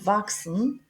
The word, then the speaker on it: wachsen: Alors, Chris, après, il y en a wachsen, c'est-à-dire s'il y en a le CH suivi par un S, on ne le prononce pas K, on le prononce X. Par exemple, wachsen, grandir, to grow, sechs.